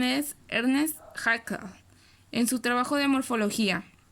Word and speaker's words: Ernst Haeckel: El término ecología fue creado en 1869 por un alemán prusiano que su pronunciación es Ernst Haeckel, en su trabajo de morfología.